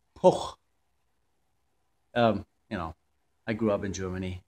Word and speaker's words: Puch: wanted to give you the German pronunciation of that moped brand so it's not couch well what's the other thing that you say a puck it's poor you know I grew